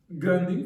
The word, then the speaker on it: Gandhi: Entonces, Gandy fue un gran hombre, así se pronuncia, ¿no?